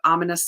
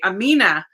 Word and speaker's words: Amina: And I always say Amina because I have like Spanish influence, but she's from Pakistan and it's Amina. Like the emphasis is on the first syllable, not the second syllable.